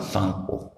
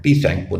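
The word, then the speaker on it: Tsangpo: इसके बाद इसका जो तिब्बत में नाम है वो है यार्लंग सांगपो। टी साइलेंट होता है सांगपो का, ये जो सांगपो है इसका टी हमेशा साइलेंट होता है, तो इसको सैंगपो पढ़ते हैं, टी सैंगपो नहीं पढ़ते, सैंगपो पढ़ते हैं।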